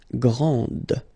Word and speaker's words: grande: This final D is not pronounced. Okay, so grand, and then the feminine form, grande.